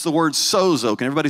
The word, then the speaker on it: sozo: and it's the word sozo. Can everybody say sozo? And it's spelled just like it sounds, S-O-Z-O.